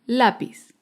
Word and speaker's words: lápiz: Otro ejemplo es la palabra lápiz. Lápiz es una palabra grave porque se acentúa en la penúltima sílaba.